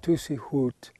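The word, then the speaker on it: Tuzigoot: the first habitants tuig or as it's pronounced in Apache tusi hoot is a poblo it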